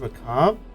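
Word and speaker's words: macabre: understood that I gu I think it's pronounced maab but the r really throws you off Richard here's your moment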